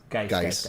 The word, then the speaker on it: Guice: Guice is how you say his last name? I have no fucking clue. Geis?